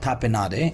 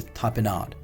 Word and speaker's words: tapenade: the pronunciation of this it's not tapenade it's a tapenade pure of a black